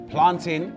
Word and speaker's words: plantain: today with dane's theory planting is pronounced tin because it's a common noun because the pronunciation is tin you know just like fountain or mountain common nouns the pronunciation obtain in